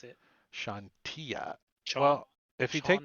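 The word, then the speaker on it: Chauntea: I never pronounce anything Shantia properly. Yeah, is how the wiki says it. Shantia.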